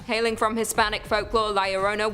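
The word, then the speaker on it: La Llorona: in and number two Larona hailing from Hispanic Folk Liona which I'm pronouncing correctly now after you guys yelled at me in a previous video is also known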